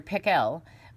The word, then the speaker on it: Pickell: chapter four dr pickle actually his name was dr pickell with the accent on the second syllable but that wasn't why